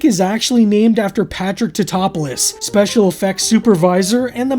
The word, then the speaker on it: Tatopoulos: Nico Topopoulos. Dr. Nico Topopoulos. How did Mrs. Tadopoulos handle that? Research team member Dr. Nick Papadopoulos. It's Totopoulos. Nick is actually named after Patrick Totopoulos, special effects supervisor and the man responsible for Godzilla's design.